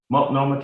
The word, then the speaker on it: Multnomah: The Honorable Loretta Smith, from Multnomah, did I say that right? County in Oregon. How do you say it, Derek? Multnomah County.